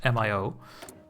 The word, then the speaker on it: MIO: Yes, MIO.